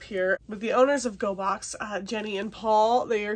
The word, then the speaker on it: Gogh: Gogh Art Crate is their YouTube channel. Go is spelled G-O-G-H, like Van Gogh.